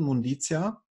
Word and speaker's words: Munditia: Schepers von der Firma Munditia Technologies GmbH, habe ich das richtig ausgesprochen? Munditia? Ja, genau, richtig.